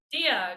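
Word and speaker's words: διά: it a try dia dia good job yup or if it has a vowel in the beginning and the next word it would just be d um and this one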